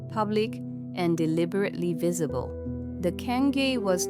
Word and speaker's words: cangue: This was the cangue, pronounced roughly Cangue, a wooden punishment collar